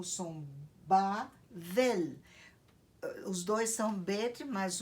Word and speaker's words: Babel: Mas a segunda palavra tem som de V. Em hebraico você diz Bavel.